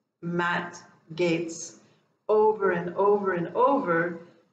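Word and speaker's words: Gaetz: matt i tame somebody and gates is the pronunciation of his name um tame gates and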